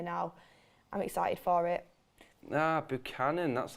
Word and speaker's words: Buchanan: Buchanan, that's how you say it.